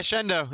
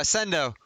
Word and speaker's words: Sendo: Hey, Shendo. Uh, Sendo. Sendo.